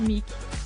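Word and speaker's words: Muick: buckingham palace les jeunes muc et fergus si les noms n'évoquent rien au commun des mortels la reine d'angleterre ne les a cependant pas choisi au hasard en effet le premier prononcé milk faire référence à l'aune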